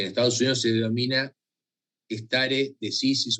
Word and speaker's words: stare decisis: algún lugar stare decisis, si la pronunciación es inglesa o norteamericana, va a decir stare decisis, pero en realidad es como infine, no es infine, es infine. Son términos latinos. Y acá es stare decisis.